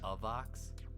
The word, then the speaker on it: AVAX: the second thing is when you say avax you know it's actually pronounced a vox really yeah why why